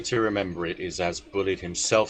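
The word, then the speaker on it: Bulleid: You actually got bullied right there. I I'm never quite sure how it's supposed to be pronounced.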